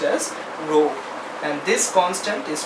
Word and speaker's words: rho: This K here is what is called resistivity, rho. The symbol is pronounced as rho, and this constant is called resistivity, which is also known as specific resistance.